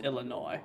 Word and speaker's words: Illinois: area here um overall and S is silent gotcha so it's Illinois there's Samuel with the